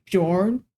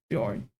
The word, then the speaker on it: Bjorn: to pronounce oh oh born bjor Bjorn Bjorn yes thank you for typing it too Bjorn okay yeah like the J is a y gotcha because if I